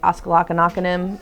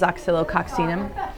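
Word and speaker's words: Oscillococcinum: And so if you take oxylococcinum, which looks like oscillocanoconym on the thing, but the correct way to say it is oxylococcinum.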